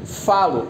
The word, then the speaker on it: falo: Então, quando eu conjugo o verbo falar no presente do indicativo, na primeira pessoa do singular, eu tenho eu falo. O fá é pronunciado com mais força.